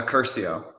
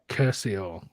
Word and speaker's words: Curcio: how to pronounce it what how do you pronounce your surname uh Curcio Curcio yeah I would have mangled that so I'm